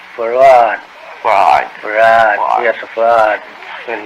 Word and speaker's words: Fard: Farad, F-A-R-D. F-A-R-D. Fard. Muhammad. Mr. Fard, you say? Well, that would be the F-A-R-D? pronunciation in English, but we in the Arabic it's Farad.